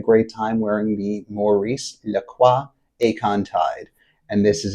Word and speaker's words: Lacroix: what is really cool about this brand Maurice Laqua. Now it's spelled like the soda Lroy but it is pronounced Laqua.